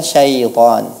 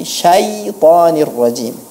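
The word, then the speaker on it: الشَّيْطَانِ الرَّجِيمِ: Kemudian pada peserta yang keempat, pelafalan minasyaitonir rajim, sebaiknya diucapkan dengan benar, bukan syaitan tapi syaitanir rajim.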